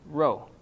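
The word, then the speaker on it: ρ: Here's another one that's going to be tricky for English speakers like us, and that is the rho. It looks like a P, but it's an R sound.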